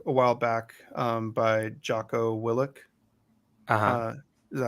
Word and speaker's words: Willink: Tim, you got me a book a while back by Jocko Willink. Is that how you pronounce his last name? Yeah, Willink.